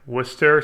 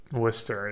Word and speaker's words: Worcester: Worcester. That's how you say it, right? Worcester, so Worcestershire sauce. I don't know why he's struggling so hard. It's kind of a tricky word. You basically skip a syllable.